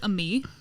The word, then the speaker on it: Aime: Or there's a me. That's Ami? a name. Mm-hmm. Like For where? AIME, but it's pronounced a me.